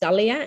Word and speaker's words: Dalisa: It's a weird one because it's spelt with an S in there, but when pronounced, it's just Dalia, and I keep forgetting